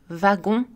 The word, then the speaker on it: wagon: Attention, la lettre W peut aussi être prononcée V, wagon, Walter.